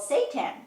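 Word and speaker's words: seitan: into a meat alternative called Satan pretty sure it's the worst name ever for a food but it's spelled differently from the Fallen Angel it's spelled s e i t a n looks like navigating nutrition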